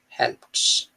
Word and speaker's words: helped: D is not giving a do sound, it's giving the to sound. Helped.